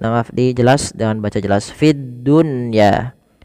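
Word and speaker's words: في الدنيا: Fiddunya tidak dibaca fidduya tapi fid dunya.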